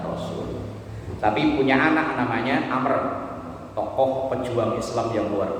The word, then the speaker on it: Amr: Itu bacanya bukan Umar, Amr. Kalau nggak ada wawu itu baru dibaca Umar, itu kan ada wawunya.